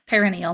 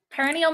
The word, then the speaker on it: perineal: so next we have perineal massage which I almost always say wrong so bear with me here see if you recognize me saying it wrong and then you